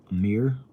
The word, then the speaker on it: Amar: It says it's pronounced Amir, but it's spelled Amar.